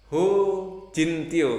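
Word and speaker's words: Joe Hin Tjio: Salah satunya adalah Dr. Jo Hin Tio ya bacanya. Ho Jin Tio. Ini ejaan lama ya.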